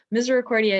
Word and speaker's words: Misericordia: of us before they say how do you pronounce that and so misericordia it's literally mercy or it's latin for mercy